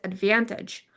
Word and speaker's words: advantage: But like as a noun, it is advantage. But I have an American accent, so that's why I don't pronounce T's. I say advantage.